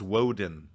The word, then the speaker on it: Woden: It's not Wotan, it's Woden.